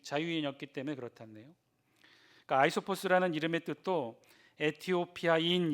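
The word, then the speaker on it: Αἴσωπος: 우리말 표현이 잇어 비고 원래 발음은 요 아이 소 포스 라군 라이 서 버 스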